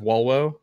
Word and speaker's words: volvo: no w's in latin you would pronounce v's as ws um there was no i because i i can't i guess all off the top of my head so like uh like volvo is actually pronounced walwow things like that um